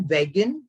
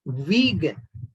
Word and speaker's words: vegan: It's not vegan, it's vegan. Though there's only one E in it, it has to be pronounced as vegan.